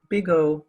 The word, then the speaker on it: big O: are both positive functions so bottom line it's pronounced big o and there's only an upper bound omega so